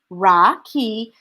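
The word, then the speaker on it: Rakhi: so raksha bandhan or rocky which is pronounced ra ki is an indian festival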